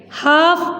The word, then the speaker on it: half: Half past. HALF, half. L is silent like half.